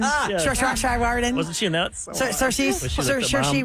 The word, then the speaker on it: Saoirse Ronan: Saoirse Ronan. Yeah. Saoirse Ronan.